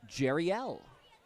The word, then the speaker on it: Jeriel: He says it's pronounced Jerriel.